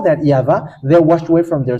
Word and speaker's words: YAHVAH: And it's the book of Torah, which says that we call it YAHVAH, and that's how we read it in heaven of heavens. YAHVAH. And those who call that YAHVAH, they're washed away from their sin, and they cannot sin anymore.